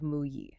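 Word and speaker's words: 木: On the left, you have the radical for wood, which is pronounced "mu".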